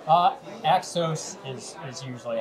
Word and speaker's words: Axos: the way uh from exos financial am i pronouncing that correctly uh exos is is usually how we pronounce it but